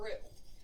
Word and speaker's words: roux: in this way you make what's called a roux that is a common base it's spelled r-o-u-x that's a common base for many